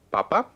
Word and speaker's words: papa: So vamos a ver primero la palabra papa, okay, Papa. versus papá. Papa. Okay, notice one has an accent. So one is papa, the first one. Segunda es papá. Papa. So they're pronounced differently.